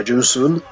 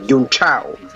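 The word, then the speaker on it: Junção: Yeah, Junsun. I can't pronounce it properly, but I didn't butcher it like Martin Brundle in 2015 when he called Junsun Yun Chao.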